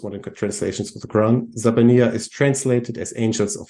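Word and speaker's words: الزبانية: guess the easiest way so this word is pronounced zabania and nobody knows what it means it only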